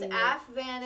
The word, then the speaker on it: Aphvanity: Altogether it's pronounced AFVanity.